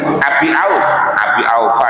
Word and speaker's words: Abi Aufa: An Abdullah bin Ubayyin Ubay Abi Aufa ya, Abi Aufa kalau bacanya itu.